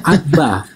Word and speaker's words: Abba: Dan itu dibaca Abba, Abba, A-B-B-A, Markus 14 ayat 36.